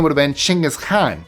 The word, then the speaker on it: Chinggis Khan: His name would have been Chinggis Khan. That's how it's pronounced in Mongolian.